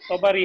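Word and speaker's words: الطبري: আরেকটা শব্দ দেওয়া আছে আত্তাবারি এটা তবারি নাকি শব্দটা উচ্চারণটা হ্যাঁ তবারি হবে তবারি তো এইটাই যে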